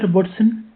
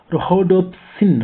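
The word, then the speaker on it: rhodopsin: रोबोट्सिन उसके उसके सॉरी उसकी प्रोनाउंसिएशन गलत हो गई, मैं उसका नेक्स्ट पढ़ रहा था। रोडोप्सिन।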